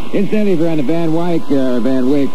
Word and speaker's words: Van Wyck: Incidentally, if you're on the Van Wyck, which is the way it should be pronounced, because I've always pronounced it that way ever since the first time I got my ticket for going over 35.